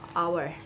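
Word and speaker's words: hour: h o n o u r owner uh our h o u r our h-e-i-r-i-a-r all this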